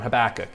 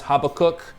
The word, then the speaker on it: Habakkuk: a few words on habakkuk and that's the preferred pronunciation at least in most english speaking circles you will hear sometimes habakkuk which is a more hebrew sounding pronunciation either is correct habakkuk is principally about